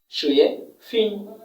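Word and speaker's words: 水平: এই টোনটার নাম হচ্ছে থার্ড টোন, এই টোনটা এখন আমরা সেকেন্ড টোন পাচ্ছি। ওকে, প্রথমত এই টোনটা আমরা ফোর্থ টোন পেয়ে গেলাম, এই টোনটা এখন আমরা সেকেন্ড টোন পাচ্ছি। তাহলে উচ্চারণ করব শুয়ে, শুয়ে, শুয়ে ফিং, ফিং।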